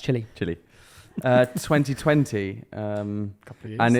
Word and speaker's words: Chile: It's pronounced chili.